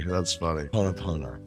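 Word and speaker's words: Hoʻoponopono: How do you pronounce this word that looks like hippopotamus to me? That's funny, man. That's funny. Ho'oponopono.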